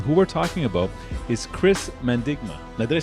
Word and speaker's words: Chris Mandigma: nation's capital and who we're talking about is chris mendigma now did i say that properly yeah yeah